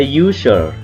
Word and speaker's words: user: Ini user, ya kan? User, user, you, berarti kan kayak you, kayak kita menyebutkan y ya atau j, ya kan? User, user. Nah, karena menggunakan ju, menggunakan huruf y, ya kan? Y di sini adalah membacanya huruf y di u ini, ya.